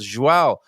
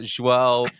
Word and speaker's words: João: She says she likes to watch the cycling, and it annoys me when people can't pronounce João or João Almeida's João name.